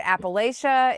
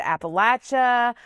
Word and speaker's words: Appalachia: Yeah, we've been talking about how to say it. Is it Appalachia? Is it Appalachia? I'm going to tell you right now, I use it interchangeably depending on, and I'm